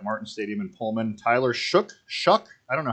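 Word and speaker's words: Shough: know how you pronounce I've heard it both ways and I have no idea shuck yeah well I mean the guy's on the broadcast don't always know what the hell they're talking about that's true Tyler shuck okay let's call it that I want to hear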